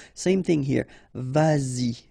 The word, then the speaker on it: vas-y: So you get to make this liaison. Same thing here, vas-y, vas-y, all right?